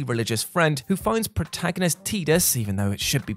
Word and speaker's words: Tidus: friend who finds protagonist Tidus, even though it should be pronounced Tidus, wide game directors, it's tide, it's connected to the water, doesn't matter, washed up on the beach at the game's opening.